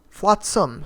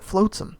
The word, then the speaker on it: Flotsam: all the Benjo Maps Flotsam Flotsam sorry I recently learned the correct pronunciation by the way don't call it floatsum thank you um Flotsam